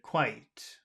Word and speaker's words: quite: was very good David quite quite it's OD I I the the I is big and the E is small and it's one syllable i i i white